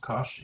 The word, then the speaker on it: cosh: hyperbolic cosine hyperbolic sine pronounced cosh and sinh CH now then if we